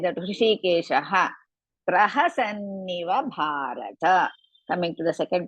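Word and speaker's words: प्रहसन्निव: Otherwise, some people will use prahasa vinniva like that. Praha sanniva. Pra first you pronounce, then sanniva comes.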